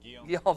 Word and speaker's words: Guillaume: It's a French, how do you pronounce the last? Guillaume, all right. French last name, man, I don't know. It's spelled Goleme, but he says Guillaume.